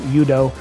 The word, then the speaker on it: Udo: I think I call him Udo half the time, but I think it's pronounced Udo.